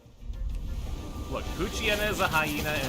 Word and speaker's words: Poochyena: It's a Poochyena. Poochyena. What if that was how you're supposed to pronounce it the entire time, as Poochyena? Because you don't pronounce it hyena.